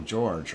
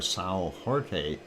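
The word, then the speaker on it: São Jorge: on the island of a single George or Sal Jorte if you want to pronounce it in Portuguese but um that is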